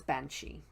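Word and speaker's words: bean sidhe: Medusa the banshee and in Gaelic it's spelled b EI n s ID h e but that's banshee okay and harpies now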